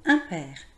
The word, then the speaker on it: impair: Je note le mot impair.